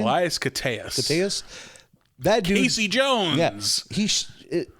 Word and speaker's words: Koteas: of that movie is, and I like, is it Elias Kosteas? Is that how you pronounce his name? Elias Koteas.